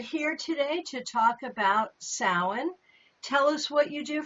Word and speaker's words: Samhain: So Samhain, which looks like Samhain, if you read it, it's Samhain, but it's pronounced Samhain, which is Gaelic, is the height of fall.